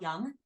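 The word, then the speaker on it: Jung: comes from a psychoanalyst Carl Young um and it's spelled j u n g um Carl Young um and he's really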